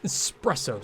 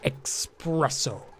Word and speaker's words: espresso: you must have had some of that X espresso stuff that's not even Gossman I'm following Niles you guys gonna be such a hard time about the pronunciation of it expresso espresso machine yes coffee matters okay so I've